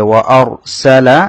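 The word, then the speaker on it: وَأَرْسَلَ: ওয়া আর, এখানে র সাকিন তার দানের হবত জবর, সে কারণে রটা মোটা করে পড়তে হবে। ওয়া আরসালা স্বাভাবিক উচ্চারণ, আলাইহিম এখানেও টান হবে না, স্বাভাবিক উচ্চারণ।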